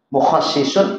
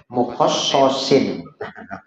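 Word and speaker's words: مخصِّص: Khososo menentukan, mukhassisun orang yang menentukan, mukhassasun yang ditentukan, takhsisun penentuannya, taf'ilan si masdarnya penentuannya. Jadi gimana tadi bacanya? Mukhassasin. Salah. Mukhassisun. Mukhassis.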